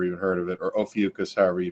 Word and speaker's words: Ophiuchus: people have never even heard of it or ophiuchus however you pronounce it yeah that was the way i